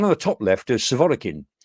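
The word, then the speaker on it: Surovikin: the top left is severikin or sort of vegan um in Russian pronunciation he's actually an Air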